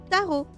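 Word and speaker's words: tarot: Is it supposed to be pronounced taro? turret is taro. So I don't really know. Oh, okay. He's just surprised every time I talk to him. Yeah, we're pronounced a lot closer to the proper way than I realized. Ah, well, we just don't pronounce Oh my god, what is he doing? We don't pronounce the second T.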